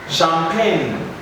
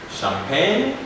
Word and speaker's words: champagne: and you find that we don't have g present in our writing because what we are able to hear is that the g is not pronounced so assign champagne champagne and you also have